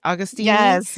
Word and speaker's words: Agostini: Right, Augustini?